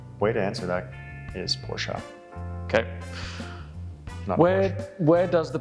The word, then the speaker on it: Porsche: spell but yeah the quick correct way to pronounce the name of the brand is porsche and that is because quite simply put it's